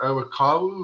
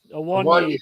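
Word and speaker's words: Awoniyi: I really like your striker, Awakawu. Is that his name? Awonyi, good never player.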